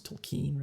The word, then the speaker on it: Tolkien: I guess it's Tolkien. It's not Tolkien. It's Tolkien, right?